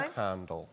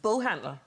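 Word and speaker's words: boghandel: Bog handle. Big head. Yeah, well, how do you pronounce that one? Bullhandle. Bullhandle. No, Sandra. no, no. Bullhandle.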